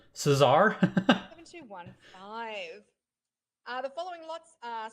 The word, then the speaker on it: Cesar: Did I just say Czar? Did you not pronounce the S? Cesar?